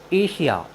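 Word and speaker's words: Asia: एन आए तो हम एस का उच्चारण बड़ा श करते हैं जैसे ए एस आई ए एशिया एशिया मीस होता है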